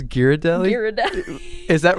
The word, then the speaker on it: Ghirardelli: Like the gordellis that are filled with caramel and then there's like a chocolate shell.